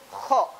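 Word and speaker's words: خ: Ya mudah insyaallah pengucapan kha seperti itu. Dan ingat tidak boleh berlebihan ya ketika mengucapkan kha. Jangan jangan. Pokoknya selama sudah terdengar nya sedikit aja cukup.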